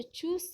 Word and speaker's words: चूस: तो ये जो है आपका छोटा ऊ का उच्चारण है चुप, और ये जो चूस है ये बड़ा ऊ का उच्चारण है।